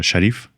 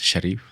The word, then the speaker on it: Sharif: I know your name is uh Sharif, but I'm not sure if I'm pronouncing it very well. You are pronouncing it very well. Uhhuh. Yes. My name is Sharif.